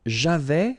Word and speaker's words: j'avais: J'avais, final S not pronounced.